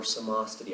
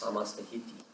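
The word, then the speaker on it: Samasthiti: Searching for samastiti, our equal standing. Sometimes pronounced samastahiti.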